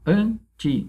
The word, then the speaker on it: anti: Ó, anti. A sílaba tônica é o an.